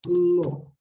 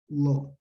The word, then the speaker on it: law: yes and also law the pronunciation of this word is lo okay the combination of aw is pronounced o law and also be careful